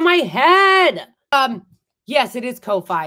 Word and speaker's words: Ko-fi: Yes, it is Ko-Fi. It's spelled like K-O-F-I with a dash.